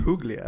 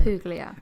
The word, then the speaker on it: Puglia: in Puglia. Puglia.